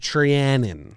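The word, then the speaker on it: Treinen: I think it's pronounced Trianon.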